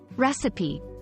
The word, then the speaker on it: recipe: T rhymes with C recipe pronounced as re CP with emphasis on the first syllable practice saying it a